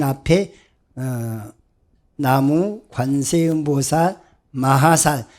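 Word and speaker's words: 南無: 그러니까 이건 남쪽 남자의 의미가 아니고, 이 나자를 이 중국 사람들은 이건 난이라고 발음을 해요. 이것을 우라고 발음하거든요. 나누 그런데 실질적으로는 그러면서도 이것은 나무를 나무 이런 식으로 발음을 한다고요.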